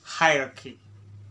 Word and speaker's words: hierarchy: How to pronounce the word hierarchy? Let's break it down. The word hierarchy has 3 syllables and it goes like this.